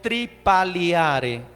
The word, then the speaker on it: tripaliare: Griego tripaliare, así como se pronuncia, T-R-I-P-A-L-I-A-R con apóstrofe arriba, R-E, tripaliare, interpretado como torturar, teniendo la raíz que nosotros conocemos en el latín tardío tripalium.